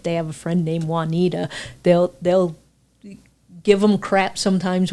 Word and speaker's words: Juanita: have a friend named Juanita, they'll give them crap sometimes when they're calling her, and they'll be like, Juanita, Juanita. because we usually pronounce the J, but it's a Y sound in Spanish.